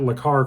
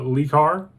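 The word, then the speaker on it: Le Car: There's a Renault 5 Le-Car, and everyone, instead of pronouncing it Le-Car, called it Lee-Car.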